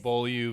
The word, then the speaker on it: Beaulieu: I said BV when we started, but the proper pronunciation is... Beaulieu Vineyard.